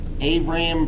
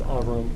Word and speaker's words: Abram: Abram? It's pronounced Avram.